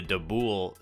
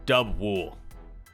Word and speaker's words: Dubwool: liked about this team uh highlighting is the dabool safe swap dub dub wool my pronunciations have been getting uh the better of